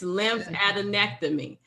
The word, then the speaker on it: lymphadenectomy: removal oh is lymph fat lymph i can't pronounce it yes it's lymphadenectomy so the key here the key here is